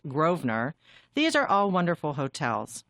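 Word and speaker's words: Grosvenor: Mayfair the Goring and Groen Earth Gardens which is pronounced groer these are all wonderful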